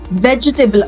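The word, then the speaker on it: vegetable: किसी भी वर्ड में जिसमें एंड में टी ए बी एल इ आ रहा है उसको हम टेबल नहीं बोलेंगे। उसको हम बोलेंगे टिबल।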